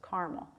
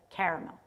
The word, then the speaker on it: caramel: great country tend to pronounce it with two syllables caramel and the blue areas the South and the Northeast like Vermont tend to use the three-syllable pronunciation according to this study caramel so I'll probably say